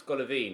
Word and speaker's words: Golovin: I just had a look on a pronunciation website and it's Golovin is how you pronounce it, so that's how I shall be pronouncing it from here on out.